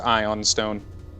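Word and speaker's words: ioun stone: well it's it's spelled iou in but it's pronounced ion stone it's weird i want to say flesh lord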